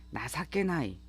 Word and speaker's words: 情けない: 1번 단어 형용사 GLPT N1에 나사케나이 이 뜻정자를 써서 이렇게 나사케나이라고 읽어요.